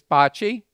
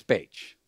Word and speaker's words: Bache: Some of you may know him as Bocce, but in Philadelphia, we know him as Bache. I've heard both pronunciations.